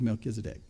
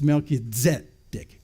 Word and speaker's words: Melchizedek: So Melchizedek, and if you want to say it Hebrew style, there's the pronunciation guide. It's Melchizedek, not Melchizedek.